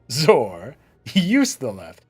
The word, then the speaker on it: Zoryustaleth: First, say Zor. Then, say Ustaleth. Zor, Ustaleth.